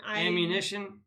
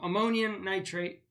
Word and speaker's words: ammonium nitrate: Do you know how to pronounce that word? AMMONI? Ammunition? No, ammonium nitrate.